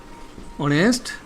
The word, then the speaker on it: honest: যেমন ধরো অনেস্টি মানে হি is dash honest man, he is dash honest man, he is dash honest man।